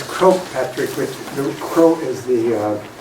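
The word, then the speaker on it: Croagh Patrick: is all good um and how do you pronounce the name of the mountain it's quote Patrick which is Crow is the Gaelic word for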